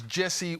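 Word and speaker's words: Djesse: Tickets to see Jacob on his Jesse World Tour. G DG. Sorry, that's how it's spelled. DJ J E S pronounced Jesse World Tour.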